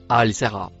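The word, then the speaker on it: الساهرة: On peut la traduire par avec ou en compagnie de Le mot en vert se prononce Al Sara.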